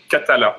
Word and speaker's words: Cathala: may be in English it should be named Katella captain cuttle ass what does that mean ah yes